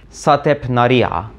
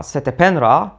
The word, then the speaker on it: Setepenra: as shotep Nadia and in Egyptian we think it was pronounced something like satepanariya user Matra satapendra was completely different so when you popped